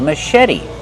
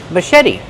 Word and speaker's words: machete: The first syllable is a relaxed sound like cup and up. Mush. Machete. The CH makes the soft sh sound like shoe. Machete. Put the stress on the second syllable and make the vowel like red in bed. Machete. And the T is a fast T because it's between vowels. Machete.